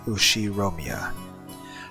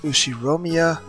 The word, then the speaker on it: Ushiromiya: Ushiromiya. That's a fairly plausible Japanese pronunciation so far.